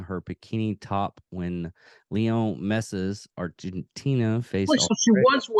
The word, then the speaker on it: Messi: Wore a pair of tiny shorts, coupled with an unbuttoned shirt revealing her bikini top when Leo Messi's Argentina faced Wait, so she Australia.